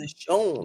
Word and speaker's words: Nashon: Nashon. You gotta say it like you got like Lowry's on it. Put a little something. Nashon. Sprinkle a little sauce on it.